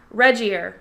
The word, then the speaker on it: Regier: pronounced Reggie.